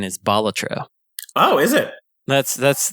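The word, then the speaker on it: Balatro: The official pronunciation is Bolatro.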